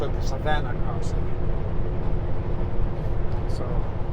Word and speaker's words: Savona: shoot uh Savannah Savannah it's that Savona it's not Savona it's Savannah um it actually if you